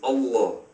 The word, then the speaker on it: Allah: without a DOT Allah it can also be pronounced Allah the Arabic word is Allah the difference is mainly the the elongation of